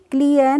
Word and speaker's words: clean: CLEAN, तो CL हो गया क्ल और EA का प्रोनाउंसिएशन हो गया ई, तो क्या हो गया? क्ली हो गया, और N से हो गया ना, तो CLEAN को हम पढ़ेंगे क्लीन। क्या पढ़ेंगे? क्लीन नहीं पढ़ेंगे, हम इसको पढ़ते हैं क्लीन।